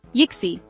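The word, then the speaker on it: yksi: try it and finish say why like you're looking into a cookie jar and add a little at the end give it a go yixi k UDA say on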